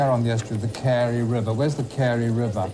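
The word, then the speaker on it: Carew: haven oil refineries now according to this pronounced carey so it says sorry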